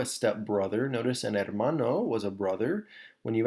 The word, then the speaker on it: hermano: Hermano, the H is silent, so hermano.